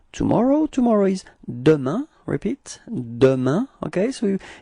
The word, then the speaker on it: demain: repeat, demain, okay, so it's ending with this A-I-N, keep in mind that we do pronounce it like un, okay, so it's demain, demain,